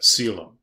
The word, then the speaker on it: coelom: within the body, and that's known as a coelom. That's how you pronounce that, coelom.